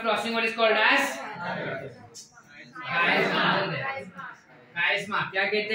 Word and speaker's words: chiasma: देखो कोई लोग इसको चायस्मा भी कहते हैं, तुम्हारे पे तुमको क्या प्रोनाउंस करना है, स्पेलिंग याद रखो बस, ठीक है? जो तुमको याद रहता है। मेरे को कायस्मा समझता है तो मैं कायस्मा बोलूंगा उसको, ठीक है?